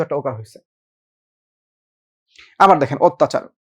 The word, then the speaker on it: অত্যাচার: আবার দেখেন অত্যাচার। অটা কেন ও হবে? কারণ পরপর জফল আছে তো অত্যা যা ছিল